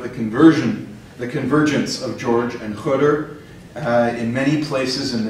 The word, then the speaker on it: Khidr: First, why do you pronounce Khidr? Because in Arabic and Persian original is Khidr, and I'm quite sure, sorry.